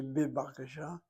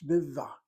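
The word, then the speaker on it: בבקשה: You don't say bibakasha, it's bivva. The bet becomes a V sound.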